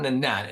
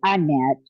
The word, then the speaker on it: Annette: It's not Nanette, It's actually Annette, but Annette.